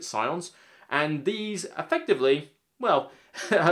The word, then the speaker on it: scions: his Legion of Scions, S-C-I-O-N, I think that's how you pronounce it, Scions.